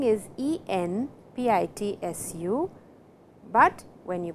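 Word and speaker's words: えんぴつ: Enpitsu, and you can see the spelling is E-N-P-I-T-S-U, but when you pronounce it, it is E-M, enpitsu. So, before P, the sound N changes to M.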